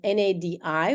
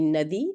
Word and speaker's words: nadi: And that's so important because one word spelled in English with Roman letters can be pronounced in 2 different ways, right? You can have N-A-D-I, which could be Nadi, or it can be Nadi. So one means river, one means pulse.